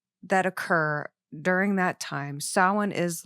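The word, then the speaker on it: Samhain: Now, after the Misfits, he was in a band called Sin. And sin, if you look at it, if you don't know this, it's spelled, it looks like Sam Hayne.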